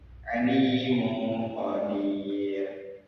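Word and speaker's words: عليم قدير: Nah, cara bacanya sama-sama. Jadi, alimu qadir tidak terlalu jelas dan tidak terlalu berdengung.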